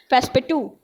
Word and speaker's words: Passepartout: Passepartout is there, but iski pronunciation, true pronunciation is there, Passepartout.